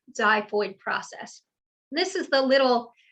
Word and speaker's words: xiphoid: called the xiphoid process it's spelled with an x but it is the zyphoid it's pronounced as z zyphoid process this is the